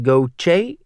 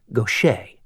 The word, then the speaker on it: Gautier: Gochce. He always mispronounced Nick's last name. He said it goch instead of the correct gocha.